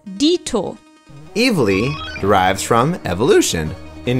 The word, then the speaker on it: dito: In German we also use this phrase, but we write and pronounce it slightly differently as dito.